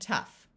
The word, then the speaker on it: tough: And there are also a few words where GH sounds like the letter F. In both of these words, the OU will have a short U sound, so this is rough and tough.